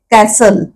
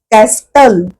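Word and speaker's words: castle: म्हणजे मराठीत अर्थ किल्ला आता कॅसल मध्ये हे अक्षर आहे कॅस्टल अस नाही मिळत आपण म्हणतच नाही सायलेंट असतो म्हणून उच्चार करताना टी नाही करायचा उच्चार करायचा कॅसल third one हसल हसल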